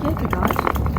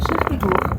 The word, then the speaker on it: Kierkegaard: If you pronounce that whole name correctly, his name is actually Kierkegaard, the churchyard. But don't show off if you say Kierkegaard, nobody will understand you, just stick to Kierkegaard.